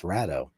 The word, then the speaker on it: Rado: And I thought Rado was Rado, and apparently it's Rado.